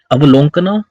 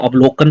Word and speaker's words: अवलोकन: ने हाल ही में अवलोकना सॉफ्टवेयर को लॉन्च किया है, या अवलोकन कह सकते हैं, ठीक है ना। इसकी जो करेक्ट प्रोनाउंसिएशन है वो अवलोकन है।